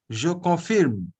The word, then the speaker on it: je confirme: no, why confirmer? Je confirme. Like you say, je pars, je donne. Hmm. Okay, like that. Je confirme. Je confirme.